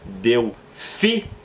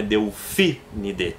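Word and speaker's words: Delphinidae: Então, no caso da família dos golfinhos, o correto é Delfinide, porque sobram mais duas. Então, a terceira sílaba tônica para dar som de proparoxítona é o PHI. Então, é Delfinide.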